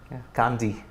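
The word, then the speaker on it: Kandy: Asia Cup this pronunciation their people's pronunciation Gandhi okay okay it's not candy it's not the English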